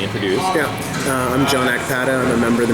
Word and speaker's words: Akpata: want to be introduced yeah uh I'm John AATA I'm a member of the marijuana party I'm